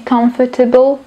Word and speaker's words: comfortable: štvrté je ch chocolate taký malý pronunciation typ akonáhle sa nachádza v takzvanej CV cluster alebo teda consonant v consonant cluster po slovensky v spoluhláskové zhluku spoluhláska samohláska spoluhláska ako napríklad v slove comfortable nesnažte sa tam tú fonu na